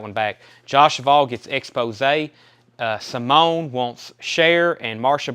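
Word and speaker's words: Exposé: Josh Duvall on Exposure. That's Expose.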